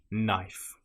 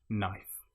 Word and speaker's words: knife: in that order again you probably won't pronounce the K a common example will be knife it just starts with a sound no knife another one that you